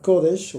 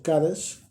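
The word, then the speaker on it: קודש: Y la palabra sagradas en el hebreo es la palabra kodesh o kadesh, dependiendo la pronunciación, que propiamente tiene que ver con una consagración.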